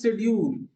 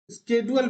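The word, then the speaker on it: schedule: Okay, अब आते हैं इंडिफरेंस शेड्यूल। स्केड्यूल भी बोलते हैं हम लोग, शेड्यूल भी बोलते हैं, स्केड्यूल बोलते हैं। स्केड्यूल ज्यादा सही प्रोनाउंसिएशन है, आपको जो सुटेबल लग रहा है।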